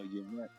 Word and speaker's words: Yvette: I don't know how to pronounce this one, but Yavina. YVN. Yavinas. There you go, Yvette.